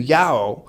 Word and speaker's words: JAOO: been I've been through yahoo which it's j it means java and object-oriented and then it's Danish so the danes just pronounced it exactly as if they had that word jaoo in their language and if they did